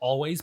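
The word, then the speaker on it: Alvvays: Is called a band called Always, but the W is spelled with 2 V's.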